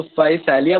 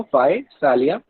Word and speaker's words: Physalia: तो फाइसालिया बुलाते हैं इसको, फाइसालिया, PHYSALIA, फाइसालिया।